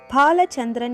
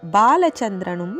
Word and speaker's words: பாலசந்திரன்: பாலச்சந்திரன் என்பது சந்திரன் பெயரும் இல்லை. அது இப்போது உச்சரிக்கிற மாதிரி ஸ்பெல்லிங் போடுகிற மாதிரி பாலசந்திரனும் இல்லை. பாலசந்திரன் அதாவது பாவை அழுத்தி சம்ஸ்கிருதத்தில் இரண்டாவது பாவாக முதல் எழுத்தை சொல்ல வேண்டும். அதுதான் சரியான பெயர்.